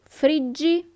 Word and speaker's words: friggi: Io friggo, tu friggi, but pay attention to the sound. The sound, the pronunciation of the verb changes. Io friggo, tu friggi, lui, lei frigge, noi friggiamo, voi friggete, and then it changes again. Essi friggono. Okay?